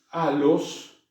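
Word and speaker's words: ἄλλος: a ponerlo en castellano, se pronuncia los, ¿ven? Como dos L's separadas, en las que se pronuncia cada una de las L's, los.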